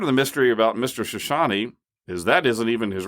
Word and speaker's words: Chouchani: Shoshani, Chouchani, pronounced Shoshani. Part of the mystery about Mr. Shoshani is that isn't even his real name.